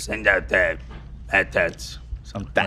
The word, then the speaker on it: AT-AT: I think it's supposed to be pronounced Atat. Atat. Yeah. Well, you can go Supposed to on. call it AT-AT? Yeah, Atat the Walker. creator I think clarified it at some point. It's like Atat.